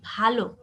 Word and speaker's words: ভালো: যেমন তুমি দেখো ভালো, এই শব্দটা আমরা যখন ভালো বলি তখন বোঝায় কি উত্তম, আর যখন ভালো না বলে ভাল বলবো তখন হয়ে যাবে কি কপাল, ঠিক আছে?